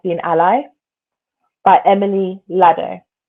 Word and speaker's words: Ladau: Demystifying Disability, What to Know, What to Say, and How to Be an Ally by Emily Lado, which is spelled Ladau.